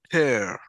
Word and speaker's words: tear: the end tear okay remember it rhymes with hair okay okay yeah why